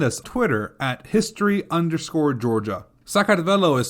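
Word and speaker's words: Sakartvelo: conquest after another Empires rise and fall but sakad always seems to survive in the end so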